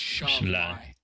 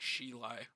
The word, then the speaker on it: Shalai: It's Shalai. It sounded like Shilai.